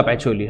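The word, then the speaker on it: Pacioli: Actually spelling में एच नहीं, लेकिन प्रोनाउंसिएशन में है लुका पैचियोली. ये कौन है सर लुका पैचियोली?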